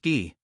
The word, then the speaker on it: Guy: That earned him his name Guy, pronounced Guy.